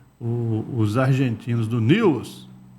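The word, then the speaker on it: Newell's: e Os argentinos do News escreve Newells né mas ele lá eles pronunciam News Old Boy deve vencer esse jogo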